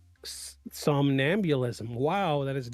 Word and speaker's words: somnambulism: Give me I use Google Translate a lot to to to give me the pronunciation of things. Somnambulism. Somnambulism.